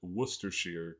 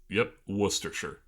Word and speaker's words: Worcestershire: Worcestershire. Worcestershire. Okay, because not Worcestershire. Not Worcestershire. Wuss. Okay. Like you're calling someone a wuss.